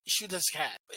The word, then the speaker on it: Xiuhtezcatl: The pronunciation is Xiuhtezcatl.